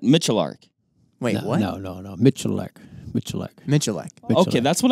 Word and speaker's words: Miculek: Miculek. That's Miculek. How I always said it. There you go. Hold on. You put an R in it. Miculek. Wait, no, what? No. Miculek.